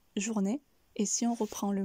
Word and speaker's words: journée: maintenant passons à journée ici on va également couper le mot en deux puisqu'il y a deux syllabes donc jour né comme vous pouvez le remarquer la première syllabe ne vous est pas étrangère jour nous venons de le voir avec bonjour et la deuxième partie du mot n'est ce qui donne jour n'est journée et si on reprend